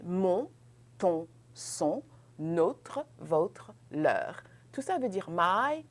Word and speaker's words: leurs: Leur, leur, leur. Now you realize I said leur. I didn't pronounce the final S. I will pronounce that final S only if I can link it with a vowel.